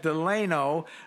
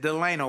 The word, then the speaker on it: Delano: Willie Jolley, with my special guest, Delano Lewis. And let me tell you, folks, it's spelled Delano, which would like Franklin Delano Roosevelt. But his parents said, no, your name is Delano, not Delano, it's Delano.